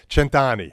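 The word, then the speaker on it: Cent'Anni: And I said it wrong. It's Cent Anni. I screwed it up. Anni. Cent Anni.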